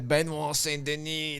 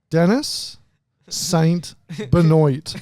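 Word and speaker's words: Benoît Saint-Denis: Benoit Saint-Denis, the God of War. Or, as our friend Dossie would call it, Dennis Saint Benoit.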